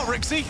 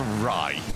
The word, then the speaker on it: Rai: For anyone that is new to Rocket League esports, not Rixie, as some of us have tried to call him previously, it's Rai.